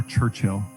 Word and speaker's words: Churchill: Is it Churchill or Churchill? Churchill. You kind of hit the L.